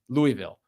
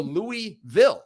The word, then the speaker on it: Louisville: Now, this game against Louisville.